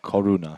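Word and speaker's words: koruna: Is called korona. Czech Corona. Like the 1970s fizzy drink. No, this is spelled, I think, K-O... Well, it's spelled in Yeah, it's Czech. K. It's K-O-R-U-N-A. Corona. Corona.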